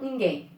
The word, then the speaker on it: ninguém: Eu falo ninguém ou eu falo ninguém? Opa, eu falo ninguém, muito bem. Se eu falo ninguém, eu tenho uma oxítona.